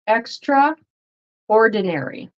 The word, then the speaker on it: extraordinary: here it's extra and you'll notice that the TR R kind of turns into and a r sound so extraordinary extraordinary so extra ordinary extraordinary